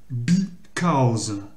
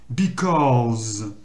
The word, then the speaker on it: because: Là, vous avez prononcé because. C'est cause, mais en allongeant le O. Because.